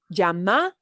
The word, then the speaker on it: llama: It is no longer, but any variation from the Y sound we use in yellow to the slight j, yeah, with that Y sound is acceptable, but don't give it the strong j, because Love. then you sound like Buenos Aires, yeah, and that's very regionally specific.